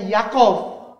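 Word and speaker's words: יעקב: Ini Yod Yi Akob. Bacanya Yakov.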